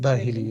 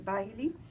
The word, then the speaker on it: Bahili: Abu Umama al-Bahali, I think it was, you might say. Bahili, yeah. Bahili. Forgive my incorrect pronunciation.